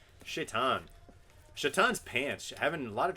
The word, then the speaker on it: Shaitan: Or I'm sorry, Shaitan. Shaitan's pants.